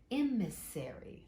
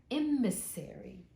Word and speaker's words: emissary: so they and here is in emissary they pronounce it emissary oh I said it wrong emissary and that is a representative of a country